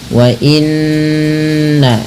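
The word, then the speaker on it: وَإِنَّ: Cara membacanya menahan bunyi suara nnya atau bunyi suara nunnya sepanjang dua harakat. Wa inna baru dilepas ya.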